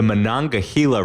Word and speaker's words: Monongahela: of these two rivers for you ready the Monongahela River and the Allegheny River come together in